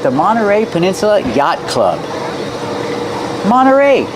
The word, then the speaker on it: Monterey: Monterey Peninsula Yacht Club Monterey you have NT you don't hear the T when it's between vowels Monterey you can say Monterey but you'll usually hear Monterey Monterey Peninsula Yacht Club